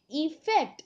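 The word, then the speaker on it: effect: इस प्रकार से इसका प्रोनाउंसिएशन होता है। और जो ई से शुरू होने वाला वर्ड है वो है इफेक्ट, जिसे हम हिंदी में अगर लिखें तो ई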